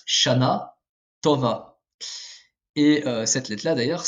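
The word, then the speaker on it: שנה טובה: emphatique en hébreu moderne à l'époque c'était prononcé de manière emphatique mais ce n'est plus le cas actuellement donc ça se prononce shana tova et cette lettre là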